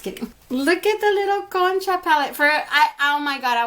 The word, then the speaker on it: concha: people were calling it kongcha it's actually pronounced con cha like a cone that you would lick ice cream off and then cha koncha it's a type of